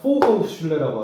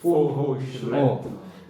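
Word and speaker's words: Fachhochschule: 그러니까 포호슐레라고 하고 발음이 되게 힘든데 우니베르시타트 이렇게 두 개로 나눠요. 우니베르시타트. 그 유니버시티. 유니버시티. 그다음 저 아래는 뭐죠? 이게 포흐슐레라고. 포호슐레.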